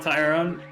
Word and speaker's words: Tyron: This is Tyrone. So yes, it is Rone. Not Tyron.